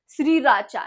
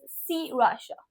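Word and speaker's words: Sriracha: insulted an entire bottle of spicy Joy या श्री राचा नो इट इज़ सी वाशा then this भो हो ये तो देख के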